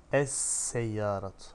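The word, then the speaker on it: السيارة: Es-seyyaratu. Lam okunur mu? Okunmaz. Es-seyyaratu. Lamsız. Lam var da hani okunmuyor. Niye? Çünkü sin şemsi bir harftir.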